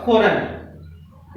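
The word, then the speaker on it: foreign: या गलत है लेकिन जी के बाद एन होने के करण जी साइलेंट है और इसका उच्चारण होगा फॉरेन इसी तरह से आर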